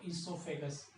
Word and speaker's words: oesophagus: अंग्रेजी में बात करें तो ईसोफेगस। ईसोफेगस, ईसोफेगस। Spelling O से स्टार्ट करनी है, स्पेलिंग ओ से स्टार्ट करनी है, ओ साइलेंट रहेगा, ठीक है।